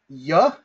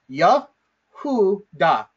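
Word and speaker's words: יְהוּדָה: Now, the way that we pronounce this word is as follows. Yahuda, okay? I broke it down into syllables. Yahuda, okay?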